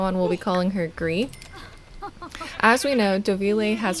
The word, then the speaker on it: Grid: to pronounce that name that name is a Norwegian name and the D is actually silent so it should be gree instead of grid which is very embarrassing